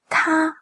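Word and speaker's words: 他: tā Alors la prononciation elle est simple que ce soit pour IL ou pour ELLE c'est la même prononciation On a "t" et "a" Le "t" c'est un "t" expiré. Donc en français c'est un "t" mais on le soufle "te" "te" "te" Et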